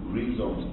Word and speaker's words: rhizome: So he opposed rhizomes to that. And rhizomes or rhizomes, and what pronunciation do you all?